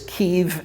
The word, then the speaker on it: Kyiv: the west pronounce it that way the proper pronunciation is kiev and the spelling is kyiv i want to